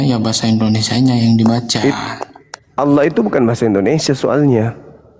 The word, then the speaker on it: Allah: Bacanya apa? Allah.